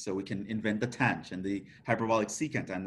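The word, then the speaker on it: tanh: it in the name so the hyperbolic tangent we have it's affectionately called tange hyperbolic cosine is called kosh hyperbolic sine is called cinch right so if you're talking about them that's how you would usually say them for the other ones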